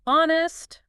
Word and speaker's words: honest: Words like honest with the silent H or muscle, silent C, they have those classical roots.